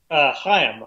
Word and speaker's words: Chaim: Chaim, I would say. Oh, you just go with a straight H.